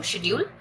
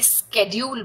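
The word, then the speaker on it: schedule: हम लोग इसे शेड्यूल बोलते हैं बट अमेरिकन इंग्लिश में इसे स्केड्यूल बोला जाता है, स्केड्यूल। ठीक है, लिखना तो स्पेलिंग तो दोनों के सेम है, हम लोग भी यही स्पेलिंग यूज करते हैं, वो लोग भी यही स्पेलिंग यूज करते हैं, but they pronounce this as स्केड्यूल, यहाँ पर टाइम टेबल।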